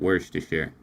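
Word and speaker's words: Worcestershire: I mean it's it's spelled word chestershire but I've I've always heard people pronounce it worsture.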